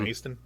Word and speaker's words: Macedon: Which is spelled like Macedon. It's Macedon, but they call it Maeston.